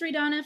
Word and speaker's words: Ray Donna: um my name is Ray Donna for those of you who don't know me and haven't personally met me that's how you pronounce my name ray Donna um and again I